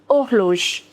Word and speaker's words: horloge: H is always silent in French. Une horloge.